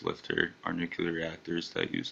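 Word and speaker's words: LFTR: reactors, commonly pronounced LIFTR, are nuclear reactors that use thorium in combination with fluoride-based molten liquid sulfur fuel.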